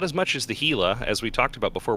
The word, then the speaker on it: Gila: So the Worm and the Mamba, 2 light drones, the Gila, 2 medium drones, and yes, it is pronounced Gila, and the Rattlesnake, 2 heavy or sentry drones.